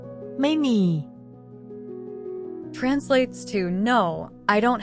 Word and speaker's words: ไม่: Is pronounced with a falling tone, which starts at a high pitch and then drops down.